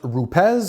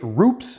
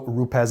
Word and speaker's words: Rupes: First of all, the name is pronounced Rupes, as they say in Italy. I used to say Rupes, but I've been corrected, so Rupes it is.